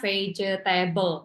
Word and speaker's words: vegetable: And then the next one, the pronunciation, sayur gitu ya. Sayur itu bukan vegetable. Tadi masih ada yang berapa bilang vegetable kayak gitu. Jadi kan kalau kita lihat tulisannya vegetable, 4 ya.